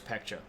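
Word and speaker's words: Paekche: and here's peka and I know it's spelled with a B but you actually say it with a p sound it's kind of like a almost like a a a puffing of the lips like a PE like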